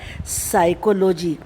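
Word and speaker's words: psychology: First word आप देखिए, पी से शुरू हो रहा है, लेकिन पी इसमें बोला ही नहीं जाता, पी साइलेंट रहता है। ये वर्ड होता है साइकोलॉजी। जो पी है ये साइलेंट है, इसे पढ़ेंगे साइकोलॉजी।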